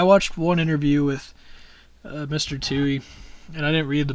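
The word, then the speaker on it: Tuohy: a guy Joe John tushy Tucci I don't know how to say his last name of it really Tui that's it Brian Tui that's his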